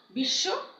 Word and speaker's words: বিশ্ব: যেমন বিশ্ব, বিশ্ব আমরা বলি না কিন্তু বিশ্ব।